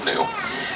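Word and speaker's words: gnu: bearded will see beautiful new it's the same concept really but it is spelled G and hue with that silent G when they finally do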